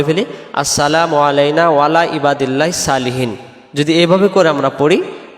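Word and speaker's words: صالحين: উপরে, ইবাদিল্লাহিস আল্লাহর বান্দার, সলিহিন নেককার বা সৎ। সলিহিন শব্দের অর্থ হলো নেককার বা সৎ। তাহলে এটাকে আমরা সালিহিন পড়ব না, উচ্চারণ করব কি আমরা সলিহিন। আবার হিন টান দিব।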